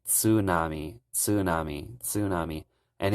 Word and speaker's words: tsunami: Americans pronounce tsunami as tsunami uh they like make the T silent for some reason but in Japanese they actually pronounce the TS so they would say Tsunami Tsunami Tsunami and it's